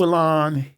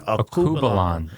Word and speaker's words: Alkebulan: And the name is it pronounced? Akubalan History Center. Akubalan.